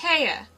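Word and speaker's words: Haigha: happy his name is haa he pronounced it so as to rhyme with mayor I love my love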